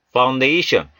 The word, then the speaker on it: foundation: Foundation, A의 강세가 있습니다. Foundation, 요 F 사운드 조심하시고요. Foundation 하시 마시고요. 윗니로 아랫입술을 살짝 누르시면서 발음을 내미시면서 foundation, the earth, 땅, 흙, 지구.